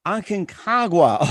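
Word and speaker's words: Aconcagua: argentina i'm having a hard time trying to pronounce the name was it akinkagwa akinkagua okay now i'm learning you got it yeah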